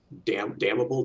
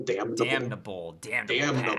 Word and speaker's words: Damnable: Damnable. Damnable. You got to pronounce the N, right?